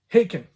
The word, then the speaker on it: Haken: Charlie Griffith, all right, from Haken, rhymes with bacon, not Haken, but Haken.